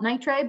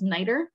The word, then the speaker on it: nitre: So the sweet spirit of, you call it nitre, but I've also seen it pronounced as nitre.